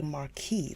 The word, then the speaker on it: marquis: right now pronunciation see we say Marquee that is the American pronunciation Marquee American pronunciation but if we do British Maris Marquis it's a marquis that is so crazy